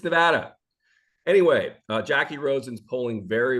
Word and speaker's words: Nevada: on the East Coast I always called it Nevada Nevada Nevada Nevada it's Nevada anyway Jackie rosen's polling very very well against